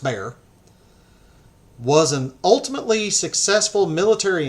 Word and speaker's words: Bexar: to look it up it's uh spelled Bexar but it's it's pronounced bear was an ultimately successful